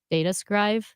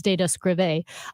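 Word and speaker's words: Data Skrive: it's called Data scrive data scrive that's how you say it I don't think it's data scra uh but data scribe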